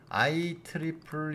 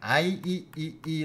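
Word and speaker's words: IEEE: 등로 해야되는데 거기 단체가 아이 트리플 이라고 하는 데다가 등록을 해야 됩니다 2 가 세계 라고 해서 트리플 이라고 발음합니다 그냥 ie 라고 발음하지 않습니다 i 트리플 이라고 발음합니다 그래서 it 풀리의 등록을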